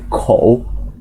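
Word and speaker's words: 口: Ya, jadi sebuah Hanzi bacanya kou, artinya mulut.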